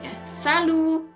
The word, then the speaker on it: salut: digunakan saldo ya selalu nah huruf t nya tidak dibunyikan Walaupun jelas-jelas ada tulisannya tapi huruf ke ini tidak berbunyi ya jadi dibunyikannya selalu Salu ya Kemudian untuk jawabannya